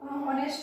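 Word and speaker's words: honest: ऐसे यहाँ पर एन होनेस्ट, यहाँ पर भी ए हमारा साइलेंट है, वो यानी वॉवेल की आवाज आ रही है यहाँ पर, तो एन। तो सभी बच्चे ये ध्यान, तो ये एन ऑनेस्ट हो गया, यहाँ पर भी एन आएगा।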